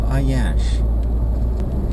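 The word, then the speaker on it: Aiyansh: And we just turned towards New Ayash. I think that's how it's pronounced. A-I-Y-A-N-S-H. Except it said it has a new name.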